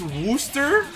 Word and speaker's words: Worcestershire: It's pronounced Wooster, so Rooster is just short for Worcestershire?